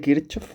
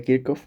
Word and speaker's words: Kirchhoff: Bien, vamos a ver ahora las leyes de Kirchov o de Kirkov, como se pronuncia.